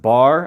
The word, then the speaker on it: Bargue: might pronounce that wrong I think it's a French word I used to pronounce it bar I've heard it pronounced baru uh but I'm pretty